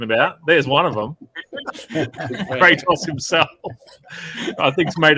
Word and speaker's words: Kratos: Is it pronounced Kratos? Mm-hmm. Yep, cool. We're doing Kratos tonight from God of War.